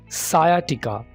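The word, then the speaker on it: sciatica: सायाटिका। सायाटिका। यहाँ पर एस और सी मिलके सिर्फ सीन की आवाज़ दे रहे हैं।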